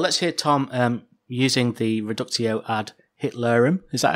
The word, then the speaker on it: reductio ad Hitlerum: Well, let's hear Tom using the reductio ad Hitlerum.